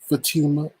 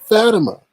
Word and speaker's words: Fatima: It's not Fatima, it's Fatima. I was like, oh, I was like, oh, oh, once again, I am right.